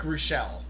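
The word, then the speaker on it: Reuschel: Pirates pitcher and long time major leaguer Rick Russell or Rick Ruschel, in case you want to pronounce it that way.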